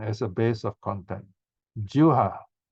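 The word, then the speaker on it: jivhā: Juha, the V pronounces like a W. Juha pasayatana.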